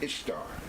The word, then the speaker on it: Ishtar: Esther or Easter, but her name is Ishtar.